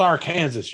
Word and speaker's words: Arkansas: But the first thing that the Black Tower has to overcome, pronounced Arkansas, you idiot.